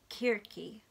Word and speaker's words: Circe: I looked up the pronunciation of this. It is Kirki by Madeline Miller.